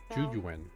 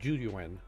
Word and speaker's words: Juyuan: Juyuan. So ZHU, that's pronounced Jew. Ju, so ZH is pronounced as a J. Juyuan.